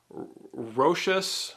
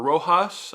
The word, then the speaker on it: Rochas: i'm going to be talking about roches or rojas i'm not really sure mustache um i think i think rochas is the correct pronunciation i'm just going to